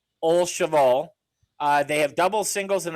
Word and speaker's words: Au Cheval: Can you help me with this pronunciation? Sure, it's Au Cheval. Au Cheval.